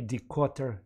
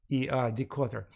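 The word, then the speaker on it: Dikötter: read a book by Decotter. He is an English-American historian who currently works in Stanford University. His name is spelled with double T, Decotter, D-I-K-O-T-T-E-R, Decotter.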